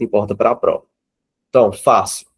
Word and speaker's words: fácil: Então, fácil. Temos duas sílabas. Fácil. Veja que o Fá, ele é mais forte. Fácil. Então, nós temos a sílaba tônica, a penúltima sílaba.